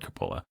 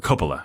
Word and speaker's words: Coppola: list was Francis Ford Coppola or Coppola I should say I always want to mispronounce his name but he's one of